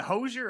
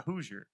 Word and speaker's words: Hoosier: Is it Hosier or Hoosier? It's a Hoosier.